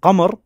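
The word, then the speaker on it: قمر: Qaf is pronounced as O in Qahira, right? If we say Qamar in Fusha, in Qahira, in Egypt, in the northern part of Egypt, they say Amr, right?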